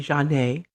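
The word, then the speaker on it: Zhané: john a cd okay that's spelled z-h-a-n-e with a stress over the e janae it's an old r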